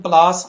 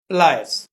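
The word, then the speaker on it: pliers: प्लायर, इसे हम प्लास, आम तौर पे हम उर्दू में प्लास के तौर पे ये पॉपुलर है, लेकिन इसको हम इंग्लिश में इसका जो इसकी प्रोनाउंसिएशन है वो प्लायर है, प्लायर्स।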